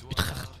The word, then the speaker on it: Utrecht: Comme ça qu'on prononce Utrecht.